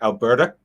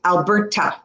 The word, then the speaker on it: Alberta: We do pronounce the T. But let me tell you, generally, we don't pronounce it like the British do. Alberta.